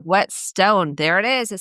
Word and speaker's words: Whetstone: Whetstone. Whetstone.